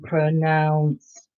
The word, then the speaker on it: pronounce: back up wow we pronounce pronunciation i can see the difference pronounced has an ou pronoun pronunciation only has a u so we pronounce pronunciation differently can you say both